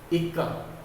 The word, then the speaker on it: इक्का: मैं उच्चारण कर रहा हूँ तो पहले वाले क का उच्चारण मैं कम कर रहा हूँ, दूसरे वाले का ज़्यादा कर रहा हूँ।